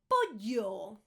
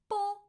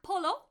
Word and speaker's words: pollo: Pollo. Chicken. Pollo. Pollo. Chicken. Not polo. Polo is actually ice cream. You need to pronounce the double L.